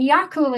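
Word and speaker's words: Eagal: a great big daft dog called yaku and yakula is spelled e-a-g-a-l and pronounced yakul and it's garlic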